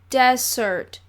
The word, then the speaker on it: Desert: an island called Mount Desert she pronounced it desert ice cream cookies brownies pudding fudge saying